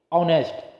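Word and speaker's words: honest: और किस sound Wavell ए रहा है देखिए ऑनेस्ट ऑनेस्ट को जब हम लिखेंगे ह ओ एन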